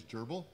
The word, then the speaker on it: GRBL: Actually, I think the correct way to say it is gerbal.